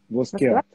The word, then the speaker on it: Воскеат: Правильно произношу? Воскевас? Воскеат. Сорт винограда.